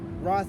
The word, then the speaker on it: Roth: Roth, that's how you say it in German.